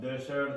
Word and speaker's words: desert: Now, all you have another problem, but it's not because of it's because of the pronunciation of S or Z. You are changing it to sh.